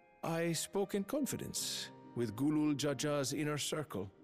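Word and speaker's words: Gulool: spoke in confidence with Gulul Jaja's inner circle. Gulul, not Galul.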